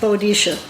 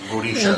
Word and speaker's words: Boadicea: Yes, I named my boat Boadicea. Boadicea.